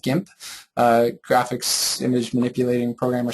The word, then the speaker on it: GIMP: GIMP, it's just that, GIMP. It's an acronym, but that's how they say it on their website, I believe.